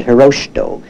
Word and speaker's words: Hirohito: was known under the name Hirohito or as the Japanese would pronounce it hiroshi doh in fact they never